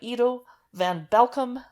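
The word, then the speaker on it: Edo van Belkom: It's Wolfpack by Ido van Belkom.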